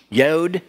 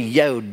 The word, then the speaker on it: yod: like an allen wrench yod it can be pronounced as a y and it can be pronounced as a j and we don't know